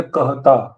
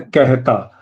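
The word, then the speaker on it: कहता: But if I have to say this, most people will not say kahata, they will say kehta. So actually, you pronounce something like kehta.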